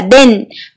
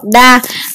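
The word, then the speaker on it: 田: Vậy chữ điền này gồm có cách đọc như thế nào? Oyomi là đền, kuyomi là tha hoặc đa.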